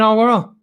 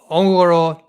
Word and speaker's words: Enguerrand: just bring in Enguerrand.